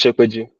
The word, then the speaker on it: Shopeju: Habib, did I pronounce your name well? It's Shopeju. Okay, Shopeju. Oh, thank you. So it's Habib Shopeju. You might be wondering who's Habib Shopeju. So Habib Shopeju is currently works as a machine learning engineer